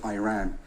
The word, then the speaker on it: Iran: First of all, you say you support the Iranian people, but you're pronouncing our country's name wrong. Our country is named Iran, not Iran.